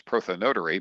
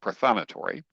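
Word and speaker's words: prothonotary: I actually thought that was prothan notary, but apparently in Pennsylvania it's pronounced prothonatory.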